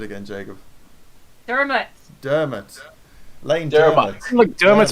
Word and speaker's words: Dermot: give me the pronunciation again, Jacob. Dermot.